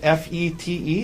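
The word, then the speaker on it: Fête: Tell us, well, first of all, is it F-E-T-E? Is that how you spell it? Yes, this first E has a circumflex over it. Okay. So, A what? But it's pronounced Fet.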